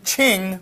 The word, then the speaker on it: Qing: So this Q-I-N is pronounced Qin. That Q gets like a CH sound. Just like when we sang Wanming Qing Republic.